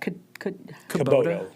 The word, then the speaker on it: Kubota: And what was the proper way to say that? Kubota. Kubota? Kubota, yeah.